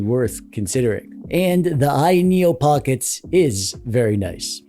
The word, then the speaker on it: Pocket S: This here is the Ayaneo Pockets. It's pronounced Pocket S.